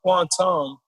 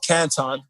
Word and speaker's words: Canton: quantum in fact the ten tigers of quantum or canton if you pronounce it properly it's probably the uh